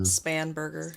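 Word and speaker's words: Spanberger: So, I heard you guys talking about how do you pronounce it? Is it Spangber or Spanburg? Spanburger.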